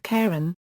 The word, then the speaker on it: Charon: follow this pronunciation however christe himself pronounced the CH in the Moon's name as after his wife Charlene because of this as